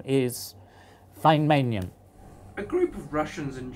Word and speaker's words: Feynmanium: they will all know it has to be pronounced F so my bid for this name is fine manum a group of Russians and Germans aren't going